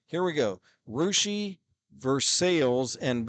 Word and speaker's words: Russia: sales and B Fountain Russ is course supposed to be Russia did they intentionally mispronounce that during the Cold War or something sure no they why didn't they just rename the city in spad this dumb rushi yeah Nigel if you're not in this area like Nigel says here try Russia it's not Russia oh how they pronounce it rousi and we assume it